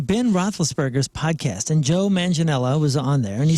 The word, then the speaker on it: Manganiello: I was watching Ben Roethlisberger's podcast, and Joe Manganiello was on there, and he stated that he sang back up for the Used and Story of the Year.